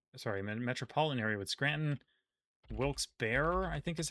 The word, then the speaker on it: Wilkes-Barre: Wilkes-Barre, I think is how it's pronounced. I think it's Bear or Barry, but not Bar.